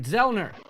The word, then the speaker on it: Zellner: Zellner, right? I'm saying it right, Zellner. That's correct.